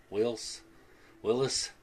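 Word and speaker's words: Whilce: That it's spelled W-H-I-L-C-E, Willis, Portacio.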